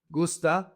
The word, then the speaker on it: gusta: Most verbs in Spanish emphasize the second to the last. So in this case the emphasis is goose. So it's gusta singular gustan plural.